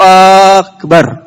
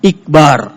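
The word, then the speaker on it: أكبر: Tetapi dia bacanya bukan akbar. Tapi di sini lihat kasrah iqbar.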